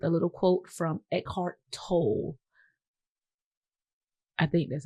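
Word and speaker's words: Tolle: If in Spanish toy double L T O L L E, but we're just going to think he's English. We're going We going to say he's English.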